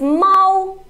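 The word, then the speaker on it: 猫: good but cat is Mao okay so let me show you the difference is Mal no it is the first tone Mao and Mao is the second tone Mao Mao okay so can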